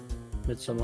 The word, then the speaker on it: Midsommar: What about how to pronounce it? Midsommar? Midsommar.